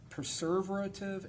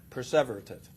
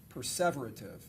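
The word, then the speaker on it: perseverative: And then he committed six preserverative errors. Did I pronounce that right? Perverative. Perverative which put him in the average range of functioning.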